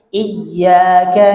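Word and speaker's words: إياك: Jadi tidak mentasydid kata i itu menurut sebagian ulama itu membatalkan sholat. Makanya harus iyyaka na'budu wa iyyaka nasta'in. Jadi biasakan iyyaka. Coba baca sama-sama. Iyyaka. Ya. Jadi i. Iya, ayo. Jadi jangan iya. Jangan iya, tapi apa? Iyyaka. Lalu yang ketiga, melakukan saktah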